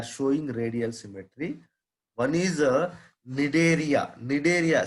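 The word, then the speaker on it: Cnidaria: One is Nidaria. Nidaria, C silent here. The first C silent here, we have to pronounce like Nidaria.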